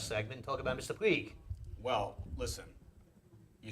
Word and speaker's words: Puig: We want to pronounce that Puig. Puig. Sounds better. Did I say Puig? Yeah, we want I'm so Puig. sorry, it's Puig.